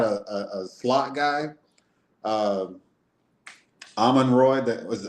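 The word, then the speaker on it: Amon-Ra St. Brown: Um Almond Roy that was how do you say his name? Alman Rott St. Brown.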